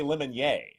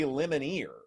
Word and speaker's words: Lemonnier: But back when I covered Auburn, there was a defensive player called Corey Lemonnier. And Gene Chizik, his head coach, kept calling him Corey Lemonier.